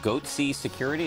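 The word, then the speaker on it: Goatse Security: They're called Goatsy Security, is that my pronouncing that correctly? Yeah, that's right.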